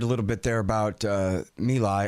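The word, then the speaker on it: My Lai: little bit there about me lie I always say my life cuz that's how it's spelled but I know it's not it's um but then so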